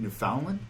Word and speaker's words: Newfoundland: Born and raised in Newfoundland?